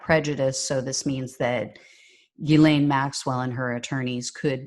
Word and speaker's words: Ghislaine: It's not Ghislaine, it's Ghislaine is how you officially pronounce it.